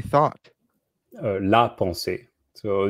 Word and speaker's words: pensée: just say thought la ponce so you pronounce it the same except there's not an s at the end but the s of